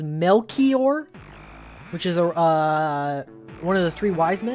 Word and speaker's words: Melchior: go back to i i was calling a mel choir apparently it's pronounced melchior which is uh one of the three wise